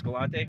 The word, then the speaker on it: Galante: Hey guys, so we just had a brief moment here with Vince Galante. Did I pronounce that right?